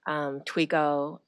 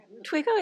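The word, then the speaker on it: Toigo: And we partner with several groups that work on the pipeline, groups such as Girls Who Invest, Twigo, SEO, and Lachey and Shafat will talk about it a little bit more in the next item.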